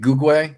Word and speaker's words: Gugwe: I say it Gugwe because the original term Micmac is Gugwe. Okay. So, you know, I'm kind of going along the lines of how they originally pronounced it.